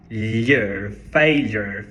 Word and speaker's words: failure: mais um chuá E um R no final failure failure só que daí eu me dei conta